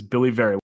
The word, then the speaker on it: Billy Vera: It is Billy Vera. I like you already. You pronounced my name right.